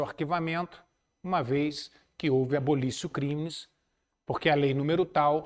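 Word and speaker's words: abolitio criminis: mencionei na aula passada se escreve abolitio com T criminis com i é uma expressão em latim e se fala abolicio crimes Exatamente isso crimes é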